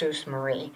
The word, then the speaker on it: Jesus Maria: for the but store it spelled Jesus Maria but it was always pronounced SS Marie around but that had um